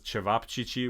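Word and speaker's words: ćevapčići: It says chevop chichi, which is how you pronounce it.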